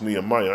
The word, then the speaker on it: Nehemiah: Israel, book of Nehemiah. Let me see. Nehemiah. Thank you, Linda Beach. It's Nehemiah.